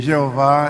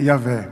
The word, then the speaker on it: Yahvé: Mas desde o século XIX, que já se sabe que Jeová é uma pronúncia, é um nome híbrido, é um nome artificial, porque o nome divino a pronúncia do nome divino é Yahvé.